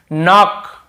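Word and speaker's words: knock: जैसे देखिए नॉक, नॉक खटखटाना, नॉक नॉक ऐसा, तो नॉक, यहाँ पर भी के साइलेंट होता है, क्नॉक नहीं पढ़ेंगे, केवल नॉक पढ़ेंगे।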